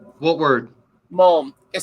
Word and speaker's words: mulm: That's a hard word to phonetically make out, I feel like. What word? Mulm.